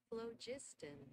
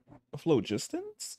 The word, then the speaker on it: phlogiston: Palo, wait, let me see how to say this show. Phlogiston. Phlogistons? Wait, what? That's how you say that? Phlogiston. Phlogiston. You saying that right, Google? Phlogiston. Phlogiston. That's what it's called.